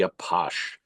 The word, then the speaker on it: Apache: These range from clean, respectable neighborhood gathering places to dark, dangerous lairs of the Apache, the French pronunciation of Apache, who were the pimps and gangsters of Paris.